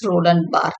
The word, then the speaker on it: Roland Barthes: to the readings of literature so this is pronounced as Roland B he is a silent okay so this essay